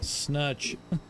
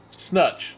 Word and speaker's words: Snutch: Oh, that's sn uh uh how do you say his last name? Snutch. Snutch. Snutch. Thank you. He had a rough fast car, didn't he? Yes, he did. Yeah. Snatch with a U. There you go. That's how you say it.